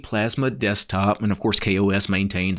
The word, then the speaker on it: KaOS: the spelling k-a-o-s you would actually think that's pronounced chaos and that's actually the way i have pronounced it on videos in the past when i've taken a look at kos but it's actually supposed to be kos not chaos which i think is unfortunate because